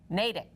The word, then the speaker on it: Natick: Natick. Didn't I say it right? Yes, but you you pronounced it like Donald Trump pronounces LGBTQ.